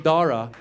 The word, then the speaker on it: Dara: They're like, you know, your son, Deja, I go, there's no cha. Where'd you see the cha? The H is silent.